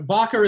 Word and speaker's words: Bocker: evening and then eric i've i've always pronounced her name bocker and i'm i i'm notorious for messing up names is backer the correct pronunciation for your last name oh he's not we don't hear him oh i think we got he's explaining that the correct pronunciation is okay i'll leave that to sariah i'm just kidding no bocker is right eric we don't have